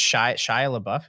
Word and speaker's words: Shia LaBeouf: popped in my mind it's i think it's shia labeouf is that how you say his name yeah